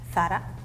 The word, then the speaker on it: Zara: So this is a Spanish brand and we pronounce it like Zara. Oh, Yeah. I know that. In America, I think we say Zara.